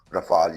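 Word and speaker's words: Rafale: लेकिन दूसरी वजह है के ये सस्ता है एस कंपेयर टू रफाल या राफेल जो भी प्रोनाउंसिएशन आपको अच्छा लगे या फिर अमेरिकन का तो आप सोच भी नहीं सकते।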